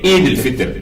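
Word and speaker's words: عيد الفطر: Mais souvent, on a l'habitude d'écouter les journalistes, les gens disent c'est mal prononcé. Oui. c'est Eid al-Fitr.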